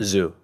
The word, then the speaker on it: Zhu: What's the right pronunciation? Zhu.